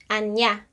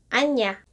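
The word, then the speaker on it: ania: in their province is anya. So I just don't know if it's pronounced anya because the spelling is A-N-I-A.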